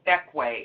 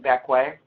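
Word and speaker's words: Bequia: It's called Beckway. It's pronounced like Beckway.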